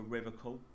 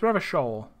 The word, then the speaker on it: Revachol: but someone has to stay strong for Revacool. What? No, it's Revachol.